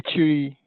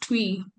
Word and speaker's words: Twi: We say a tree. Oh, you pronounce it as tree, not twee.